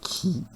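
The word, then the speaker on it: χ: L'électronégativité qui, c'est la lettre qui, grecque. Ça s'écrit CHI comme lettre, mais on prononce qui.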